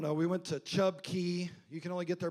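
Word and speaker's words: cay: And then, but it's spelled C A Y. I don't know why they do that. It's like K, but it's key.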